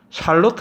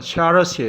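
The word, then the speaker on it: Charlotte: 두번째로 인기는 사람은 요 샬로트 라고 하는데요 발음은 샬럿이 에요 샤 루스는 머스 뜻이냐면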